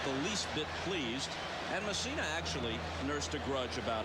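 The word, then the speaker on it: Mussina: Here's Mike Messina in the game, and Messina is the way he prefers to have it pronounced.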